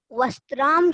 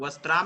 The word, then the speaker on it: वस्त्रम: ना शाह वस्त्राम सीव्यति। वस्त्राम नहीं, वस्त्रम, तापे आ की मात्रा नहीं है, सिंगलता है।